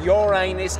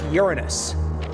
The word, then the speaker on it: Uranus: them shut up damos and no it's not pronounced your anus it's pronounced Uranus are you two dating or something us no